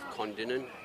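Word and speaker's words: Kondinin: But in WA, we come from a small town of Condinan. K O N D I N I N. Uh, one thing I've found our pronunciation of towns here and over east as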